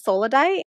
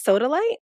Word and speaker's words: sodalite: the longest time I thought one of the stones was solidite but it's sodalite and my son T